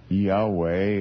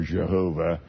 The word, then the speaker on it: Yahweh: all four letters capitalized, I know that in the Hebrew that we should pronounce that either Yahweh or Jehovah. It is not Lord.